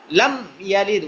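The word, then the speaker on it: لم يلد: এরপরে লাম ইয়ালিদ ওয়া লাম ইউলাদ, এখানের মধ্যে অনেক ভাই ভুল করবে, সেটা হলো লাম ইয়ালিদ ওয়া লাম ইউলাদ, লামি, মিমের মধ্যে জেদ দিয়ে দিবে, লাম ইয়ালিদ উচ্চারণ একবার হবে, লাম ইয়ালিদ ওয়া লাম ইউলাদ।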